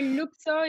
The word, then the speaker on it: LUKSO: You can say LUKSO if you're more Latin, you can say LUKSO if you're more Anglo-Saxonian. They're all correct.